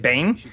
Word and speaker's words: Biehn: Oh shit, Bane. I think it's actually pronounced Bane.